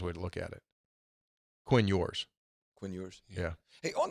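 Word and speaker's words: Ewers: yours right yeah like it's e-w-e-r-s but it's pronounced like y-o-u-r-s yours that's the best way to look at it Quinn yours Quinn yours yeah hey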